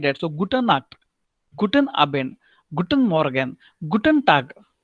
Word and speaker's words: Guten Abend: So you should not say Gute Abend. No, Guten Abend. So N, the pronunciation you have to do it, even though you speak very quickly. Guten Abend.